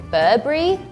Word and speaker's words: Burberry: In usual conversation, people would say Burberry, like or Burber, like without the really big last letter.